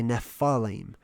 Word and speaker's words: Nephilim: And it's like a PH, just like phone is spelled with PH, right? That's why people say Nephalim.